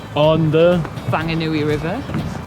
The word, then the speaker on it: Whanganui: So we are currently in Whanganui. on the Whanganui River. But some people say Whanganui because it's spelled W-H and people can't pronounce F.